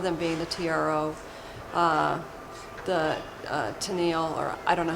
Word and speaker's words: Tamil: organizations, one of them being the TRO, the Tennille, or I don't know how you would pronounce it, but Tennille reorganization. The Tamil Tigers? Is that? Yes. That's okay. So that's the TRO. Tamil.